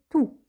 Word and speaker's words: tout: Attention, on ne prononce pas le S du déterminant tout. On ne dit pas tous, mais tout.